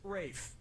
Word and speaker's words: Ralph: finds first name is spelled like Ralph but pronounced race and his brother Joseph Fiennes they're all the